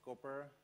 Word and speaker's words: Copr: The name stands for Cool Other Package Repository, it's pronounced Copr, and it's basically place for hacking.